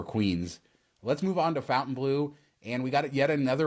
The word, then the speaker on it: Fontainebleau: the people talking about how we say Fountain Blue even though we're saying it right and now here we